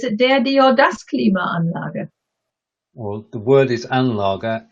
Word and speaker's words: Klimaanlage: So it's Klima, which is the first part, and Anlage, which is the second part.